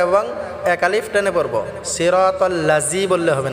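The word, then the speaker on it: صِرَاطَ: ইহদিনাস, সিরা, সোয়াদটাকে আমরা ভালো করে মোটা করে উচ্চারণ করতে হবে। সিরা বললে হবে না। সিরা, রটা আমরা এক আলিফ টেনে পড়ব। তল, তাল বললে হবে না, তল।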